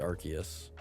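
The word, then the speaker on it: Arceus: Yes, Arus is the god of Pokemon or Archus or Arus, I don't know. I guess technically it should be Archus. I think that's the correct pronunciation.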